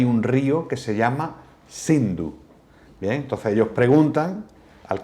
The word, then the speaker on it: Hindu: llama río sendo entonces en farcy persa la es ese se pronuncia como una H aspirada Entonces ellos En vez de decir sindu empezaron a decir hindú y llamaron a ese